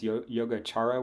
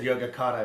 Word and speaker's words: Yogācāra: One thing I've noticed is that like the way that people pronounce any vowel that comes after a C, they always put an It's H in there. So it's like chara.